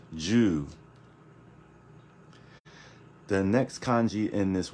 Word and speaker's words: 銃: okay and it's pronounced Jew so I put a little Dash on top of the U to let you know that you have to carry this sound just a bit so it's not Jew